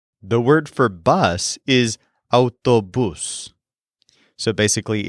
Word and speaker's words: autobús: The word for bus is autobús. So basically, it's the word for car plus bus. But it also has an accent on the U.